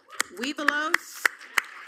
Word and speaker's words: Webelos: Webelos.